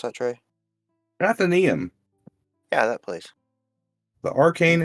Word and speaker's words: Athenaeum: How do you pronounce that, Trey? Athenaeum.